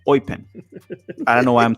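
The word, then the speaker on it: Eupen: Gabrielle sonina currently plays I've been calling it upen but he taught me and here it goes It's called oen almost as if you're like a pirate saying oen I don't know why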